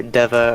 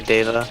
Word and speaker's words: deva: Merriam-Webster has it as either Deva or Deva, Okay.